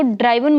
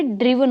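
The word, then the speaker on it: driven: इसको ड्राइवन मत बोलना, ये ड्रीवन होता है।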